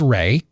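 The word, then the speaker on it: Rae: The lead character in A Nefarious Carol, her name is Ray, and it's spelled R-A-E.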